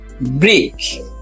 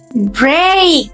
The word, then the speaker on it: break: ব্রিক। No, এটা হবে break. এই ই এখানে সাউন্ড দিবে এই, break, break. এটা কি হবে?